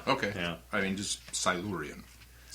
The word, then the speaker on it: Silurian: the Silurian, which we now have the correct pronunciation thanks to the Doctor. Silurian.